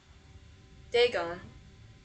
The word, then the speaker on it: Dagon: Dagon. So, my pronunciation was right.